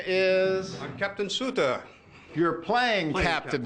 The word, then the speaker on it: Sutter: name is I'm captain Sutter you're playing Captain sutor you are representing Captain sutor uh was it pronounced Sutter Sut is corre the Americans say Suter but the Swiss say Sut really and he was